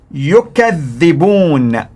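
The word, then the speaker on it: يُكَذِّبُونَ: Now listen to the pronunciation in WARSH. Yukazzibuuna, Yukazzibuuna.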